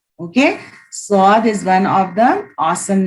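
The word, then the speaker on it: ص: It has a whistling sound, but not sharp as that of seen. Seen also has a whistling sound, but here you are pronouncing, it's a clear S sound, like seen, snake sound, right? But here in swad, there is a you can say the whistling sound, but it's not sharp like seen.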